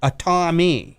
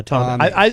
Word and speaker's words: Tomi: She Tommie. No, Tomi. Oh, so Tommy. Tomi, yeah, Tommy. I pronounce it Tommy. Am I saying that right, Eric? I think it's Tommy.